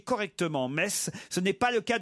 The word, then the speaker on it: Metz: j'ai remarqué que si vous cher laurent vous prononciez correctement metz ce n'est pas le cas de tous vos